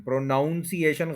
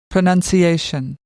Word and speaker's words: pronunciation: प्रोनंसिएशन, प्रोनाउंसिएशन गलत है। 5 syllables हैं, फोर्थ के ऊपर स्ट्रेस है। pronunciation, pronunciation, pronunciation, उसके बाद जो वर्ड हम बोलते हैं पार्टिसिपेट।